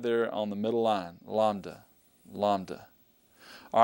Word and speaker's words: Lambda: stroke is right there on the middle line Lambda Lambda all right let's take a look at